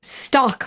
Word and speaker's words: stalk: sau Jones has a stock market and it's spelled s ta LK and the stock market which I will keep saying even though it sounds exactly the same as stock market but the stock market